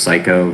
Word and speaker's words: Seiko: I will say that Seiko did say at DreamHack that it was Psycho. He just likes the different pronunciation of it.